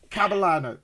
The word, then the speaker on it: Kabalano: Can I pronounce it properly? Kabalano.